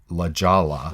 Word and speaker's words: La Jolla: california it's but it's it looks like La Jolla in La j 0 lla but it's la jolla that's how it's pronounced in spanish and also Ojai California